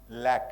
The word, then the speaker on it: lac: He says, instead of literature living in the lack, LAC, lack is Aragu, what we say. How do you pronounce it in English?